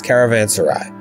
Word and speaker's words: caravanserai: If you go to Google and you say, click pronounce, it says caravanserai. Really? Yes, I know. It's crazy. Well, both of I'll them sound weird. I'll just say I've only ever seen the word ending in a Y.